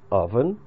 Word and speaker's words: oven: Опять же, внимательно, внимание читается это слово oven. Не совсем так, как оно пишется, как вы видите.